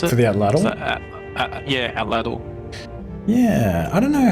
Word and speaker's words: atlatl: For the, how do you pronounce it? For the atlatl? Yeah, atlatl.